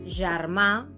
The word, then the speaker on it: germà: Por lo tanto, la G delante de la E o de la I y la J delante de cualquier vocal se pronuncian J. Así, por ejemplo, tenemos germà, Girona, Janoll, Jutge, Joguina, ¿no? Fijaros en la diferencia. Uno es un sonido sordo en español y el otro es un sonido sonoro.